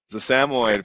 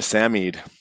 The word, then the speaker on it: Samoyed: A Samoyed for anyone who might be asking, or a Samied, that's how you pronounce it.